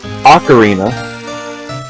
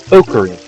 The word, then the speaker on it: Ocarina: While I do that though, Apparently, the United States, maybe Canada, pronounces Ocarina, and British, we pronounce it Ocarina.